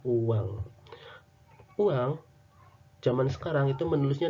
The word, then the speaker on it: oeang: Kemudian di ejaan lama misalnya di sini tertulisnya OEANG, dibacanya apa? Nah, kalau zaman sekarang dibacanya kan oweang ya. Kalau zaman dulu ini dibacanya adalah uang.